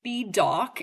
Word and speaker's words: B Dawk: Here we have B dock. And his name is spelled literally the letter B and then the word dock like hawk but with a D. So D A W K.